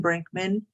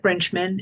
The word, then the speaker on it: Brinchman: can okay great um my name is Susan Brinkman and it looks like brinchman it's spelled s-u-s-a-n-b-r-i-n-c-h-m-a-n and